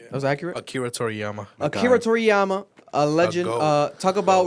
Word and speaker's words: Akira Toriyama: Akira Toriyama, a legend.